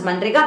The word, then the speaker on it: MNREGA: So now, taking into consideration the rural population, the unemployment perspective, this MNREGA, or you can even pronounce as Manrega, that was introduced.